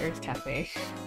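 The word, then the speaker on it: Urth Caffe: Earth Cafe, which is, Earth, spelled like U-R-T-H, Cafe, C-A-F-F-E. It's, it doesn't only exist in Vegas, but they have other locations as well. But we got breakfast at Earth Cafe, at the Wynn.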